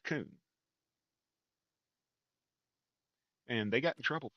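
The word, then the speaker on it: Kuhn: As you can see, there is a brand, coon, and it is pronounced coon.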